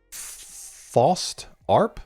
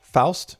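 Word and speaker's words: Faust Arp: Fost arp. Foust. Fast arp. Hold on. How to pronounce fast arp. Pronounce fast rhymes with joust or mouse arp like harp short for arpeggio.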